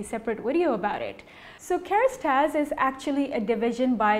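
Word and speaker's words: Kérastase: So the actual pronunciation for Kerastase is Kerastase in French.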